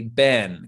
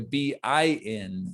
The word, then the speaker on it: been: british pronunciation of it i personally would often say ben kind of like b-e-n how many times have you been there but really maybe the most neutral way to say it that maybe some americans say it and some british people might also say it this way it's like a b-i-n so a bin how many times have